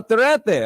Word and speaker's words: Torete: I don't know how to pronounce it very well. Torete. Oh, Torete.